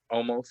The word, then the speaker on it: Omos: AJ, of course, was flanked by Omos, or however you pronounce his name. Yeah, no, you got it right. Almost. Omos, yeah.